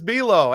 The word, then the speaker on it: Buelow: And I appreciate you saying my name so well, too, with the pronunciation. You really drove it home with just like the cookie.